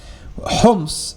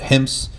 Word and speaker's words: Homs: Homs, at this time, some people pronounce it Hims, Homs.